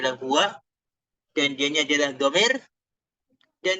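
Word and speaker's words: هو: Dan ini bacanya adalah huwa, pastinya huwa. Mengisi mabniyah, dia nggak akan bisa berubah. Bacanya adalah huwa.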